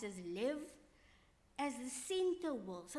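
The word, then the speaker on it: לב: And so it says, with all your heart, invokes the Hebrew understanding of heart, which is usually pronounced as lev, as the center will.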